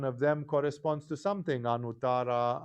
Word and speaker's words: Anuttara: For example, Anuttara starts with a simple A, But Ananda starts with a long A that corresponds to the second.